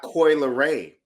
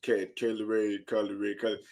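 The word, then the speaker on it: Kylie Rae: to tell you that it's not Coyle Ray. Because if Kylie Ray were to ever watch this podcast and watch you say Kylie Ray, she's gonna have a problem with that. So say her name properly.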